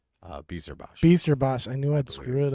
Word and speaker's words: Bijsterbosch: Bijsterbosch. I knew I'd screw it I up. believe it is Bijsterbosch. Bijsterbosch.